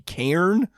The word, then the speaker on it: Cairn: This could be Cairn.